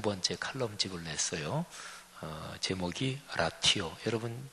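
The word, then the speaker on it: ratio: 책 제목이 라티오, R-A-T-I-O인데 이게 라틴어예요. 영어로 레이시오. 근데 이 라티오, 이 영어 단어도 스펠링이 똑같아요.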